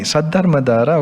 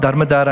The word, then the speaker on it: Saddhammadhara: Saddhammadhara, okay. Saddhammadhara. All right. Not Dharmadhara, I'm sorry, Saddhammadhara.